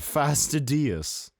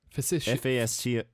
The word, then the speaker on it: fastidious: Fastidious. Facetious. No, facetious is spelled differently. I don't know, man. No, it's literally fastidi. No. F-A-S-T-I-D. It's like tedious with F-A-S before it.